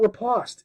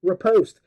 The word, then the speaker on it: riposte: and he pronounces it like it was rhyming with riposte. I kept thinking of like pasta. At the end, I wanted some spaghetti and, some bow ties. It's not riposte, it's riposte.